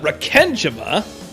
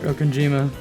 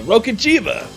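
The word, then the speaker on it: Rokkenjima: Is this about Rakenjima? But no, that was bad read. I'm sorry. Rokenjima. Exactly. Rokenjima!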